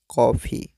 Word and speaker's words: कॉफ़ी: ऐसे ही कॉफ़ी में भी आप देख सकते हैं, का के ऊपर जो चिन्ह लगा है, यह अन्य विशेष ध्वनि वाला चिन्ह है, अर्थात इसका उच्चारण हम विशेष रूप से करेंगे, जैसे कि कॉफ़ी।